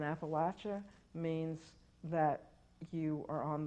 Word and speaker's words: Appalachia: with the British rule Appalachia and Appalachia work exactly the same way Appalachia is the pronunciation of condescension the pronunciation of the imperialists the pronunciation of people who do not want to be associated with the place and Appalachia means that you are